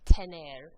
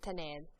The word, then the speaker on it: tener: Today we're going to learn a quick, pretty simple grammar lesson about the verb to have, which is pronounced tener. Repitan, tener. Tener is used just like we use it in English to talk about things that we have or possess.